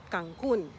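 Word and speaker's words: Cancún: pronunciation of the city cancun with the emphasis on the u and a beautiful one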